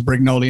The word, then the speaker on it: Brignole: me just say that we should probably call my name brignoli okay brignoli just because that's the common pronunciation you are correct technically it's brignol or brignol but um it's i'm